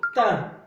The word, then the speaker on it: thym: Et enfin, on a YM. Se prononce 1. Le thym. Le thym.